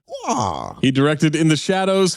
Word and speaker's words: Waugh: Waugh.